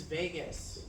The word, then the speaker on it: vagus: 10 is Vegas. Not spelled like Las Vegas, right?